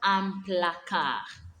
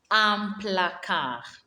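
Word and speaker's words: un placard: be called desert dessert a cupboard is called amplaca amplacar and lastly we have a desk a desk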